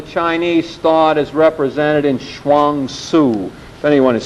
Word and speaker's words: Chuang Tzu: The first is the Chinese thought as represented in Chuang Tzu.